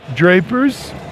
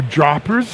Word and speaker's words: Drapers: at kubecon is Gert Drapers or droppers if you're here in Amsterdam and you're Dutch you might pronounce it that way um Gert is with